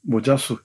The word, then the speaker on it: 모자수: 모자수 이름이 좀 이상하죠? 근데 모세라는 말의 일본식 발음입니다.